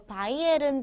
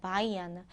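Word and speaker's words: Bayern: 남부 지방이라고 하면요 대표적으로 바이에른 주가 있거든요 바이에른 주는 독일어로 바이언이라고 해요 바이언 바이언 지방 사람들이 많이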